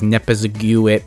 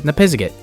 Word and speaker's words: Nipizzikit: I mean, yeah, I know I mispronounced it as Nipizziguit, but I've since learned that the correct pronunciation is Nipizzikit.